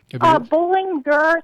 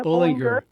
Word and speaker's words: Bollinger: Bollinger, so it's like you're going for a game of bowling, and then there's like a tiger at the end of it. So Bollinger.